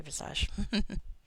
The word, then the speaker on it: Visage: should have gotten ghostly Visage oh well I know people pronounce it Visage but I like vage it makes me smile I mean I guess